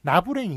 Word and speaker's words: 나부랭이: 나부랭이 있죠, 나부랭이라고 읽습니다.